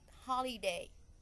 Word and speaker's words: holiday: put the second syllable but holiday the first the first syllable television television the first